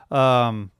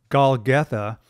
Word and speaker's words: Golgotha: And then they went to the place called Golgothine. I always mispronounce that. Golgotha, which means place of the skull.